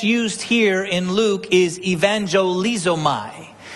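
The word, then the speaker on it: εὐαγγελίζομαι: The word that's used here in Luke is evangelizomai. Kind of sounds like the word evangelist or evangelism.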